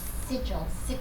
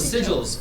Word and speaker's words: sigil: What's the right pronunciation? Celestial weapon? Sigil. Oh, the sigils.